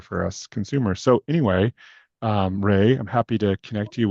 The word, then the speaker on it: RAI: Yeah, I would say that's definitely top of mind for Refugee Artisan Initiative, which it's funny because your name is Ray. They pronounce their acronym Ray as well.